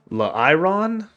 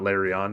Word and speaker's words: Lairon: pronounce this name larion it's not larion because that would be l a r i o n and this is l a i r o n it's La iron I don't know Evolution